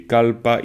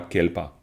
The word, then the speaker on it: kalpa: Parce que le mot en sanskrit, c'est kalpa, clairement. C'est pas kelpa, c'est kalpa.